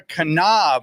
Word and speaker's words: Knaub: We are here with Knaub, right? You pronounce it. The K is not silent.